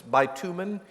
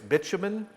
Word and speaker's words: bitumen: In American English, it's bitumen. In English, British, it's bitumen.